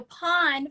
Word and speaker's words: Pon: pawn star yes so pawn for those who are unfamiliar it's spelled p-o-n pawn is a proprietary